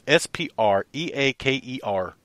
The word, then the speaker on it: Spreaker: SPR EA ke R that's the site that I've been pronouncing the whole time we've been on there which has been what about four months five months yeah yeah I've been pronouncing this the whole wrong the whole time it's Spreaker SPR e a ke